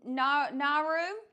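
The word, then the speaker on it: Nauru: How do I pronounce that? Nor Naru.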